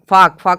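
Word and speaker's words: folk: है एफ ओ के एफ ओ एल के फाक मतलब होता है जन जन समूह जन समूह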